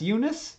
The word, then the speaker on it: Eunice: kind of verb okay Unisa's not pronounced like that it's Eunice is a Eunice what do